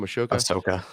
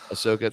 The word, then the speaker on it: Ahsoka: uh ashoka is how you say your name ashoka ahsoka thank you uh made the jump from animation